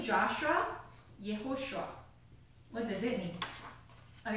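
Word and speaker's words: יהושע: So the person, the leader's name, Joshua, means Yehoshua. Joshua is an English pronunciation, so it's a little bit confusing sometimes, but his real name is Yehoshua, and that means Yahweh is salvation.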